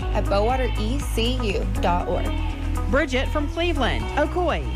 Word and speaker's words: Ocoee: I'm from Cleveland, Tennessee, and it's pronounced Ocoee, Etowah, and Hiwassee.